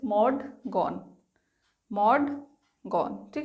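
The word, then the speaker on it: Maud Gonne: How will you pronounce this? माउड गोनी? No, that is मॉड गॉन।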